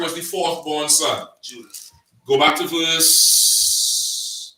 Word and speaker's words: Judah: No, Judah, sir. Judah. Judas is what? The Greek pronunciation of Judah.